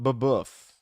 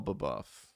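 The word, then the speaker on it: Babeuf: wants to understand this, look up babof in the French Revolution. BA B. How do you spell it? B- A B UF, I believe. B- A B E UF.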